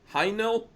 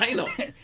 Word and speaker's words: Haenel: Heinel?